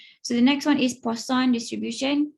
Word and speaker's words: Poisson: the next one is poisson distribution again a french guy that's why it's pronounced like that arises frequently in scientific